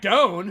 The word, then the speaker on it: Doan: We've got Jack Doan, who we have announced, rhymes with John Cone and Jack Doan.